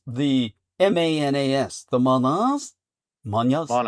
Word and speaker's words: manas: And how would we pronounce the mas? The manas.